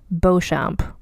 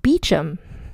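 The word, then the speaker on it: Beauchamp: c h m p bamp I would think but in fact because British people got to be British it's pronounced beachum so that's going to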